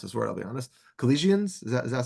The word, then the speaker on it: Colossians: Next, I want to go to, I don't even know how to pronounce this word, I'll be honest. Colossians, does that sound right? Colossians.